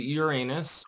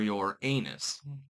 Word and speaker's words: Uranus: It turns out the Uranus or Uranus. It's funny regardless of how you pronounce it's either Uranus us or your anus.